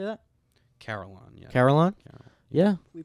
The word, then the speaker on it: Carolon: uh carolon is that how you say that carolon yeah carolon car yeah we pronounced it right this time we got it